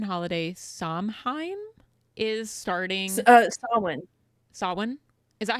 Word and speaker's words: Samhain: Samhain, is that how you say it? It's Samhain.